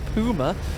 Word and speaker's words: Puma: Here comes the Puma. We are Brits, but we do pronounce it that way because it is a German armoured car, and that's only right. It's only fair.